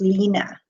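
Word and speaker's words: Line: Because I know someone who's from Denmark, and her name is spelled L-I-N-E, but it's actually pronounced Lena.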